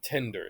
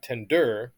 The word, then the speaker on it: tender: have to think about how we pronounce words right like tender so it's not tender right tender it's not memory right it's memory so you want to look at what's stressed and unstressed in a word right typically pronouns and